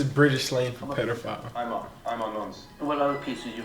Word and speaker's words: Nons: Nonce. Nonce. So I'm Nonce. Nonce. Nos.